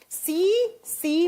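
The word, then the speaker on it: tsetse: ऐसे लिखा जाता है उसे सी फ्लाई। जब प्रोनाउंस करते हैं तो टी साइलेंस साइलेंस हो जाता है। सी सी मक्खी।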